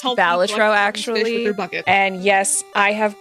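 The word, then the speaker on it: Balatro: Hi, it's pronounced Balitro actually.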